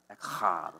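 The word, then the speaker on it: אחד: Well, you say it kind of like a Klingon. You know, like echad. Like, yeah, well, you just spit on the girl in front of you.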